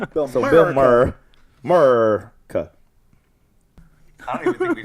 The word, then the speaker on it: Maher: Say it right? The Maher. Congratulations. The Maher. I've ruined his name multiple times. Mer. He's also an asshole, so I don't really give a fuck. Bill Mer. Bill Maher.